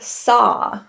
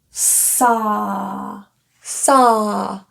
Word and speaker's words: saw: In the word saw, this a W is very tricky for people because they see a W and they think ow ow I saw. But in this case, we're looking at an a vowel. Saw saw an open lip relaxed position.